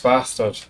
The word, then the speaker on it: bastard: Very important, if you want to pronounce bastard in a Scottish way, you have to use a glottal stop at the end.